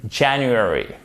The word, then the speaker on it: January: Faites bien l'accent tonique sur cette syllabe ici. In January, en janvier.